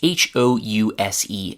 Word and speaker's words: house: That's H-O-U-S-E, and the S there is pronounced as a Z. So in house, the noun becomes a verb, that S turns into a Z pronunciation.